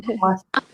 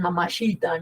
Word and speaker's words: mamacita: O sea, no dicen nada más que mamacita. Ni siquiera pronuncian bien, porque en vez de decir mamacita, dicen mamachita, ¿no?